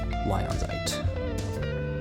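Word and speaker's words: lyonsite: Spelled like lion, but with a Y instead of an I. Lionzite.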